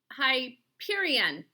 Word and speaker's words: Hyperion: All right, last one we'll take a look at is Hyperion. I had to look this up to find the pronunciation of it. It is a long Y and a long E, or a long I.